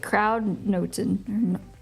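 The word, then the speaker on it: kruidnoten: They pronounce it Kraudnoten.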